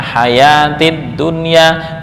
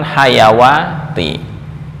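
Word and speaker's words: الحياة الدنيا: ini sama alhah haya hayatid dunya ya bacanya hayatid dunya bukan hayawati itu mungkin ya silakan baik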